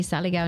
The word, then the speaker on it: Saligao: No, Saligaw Foxes? Saligaw Correct.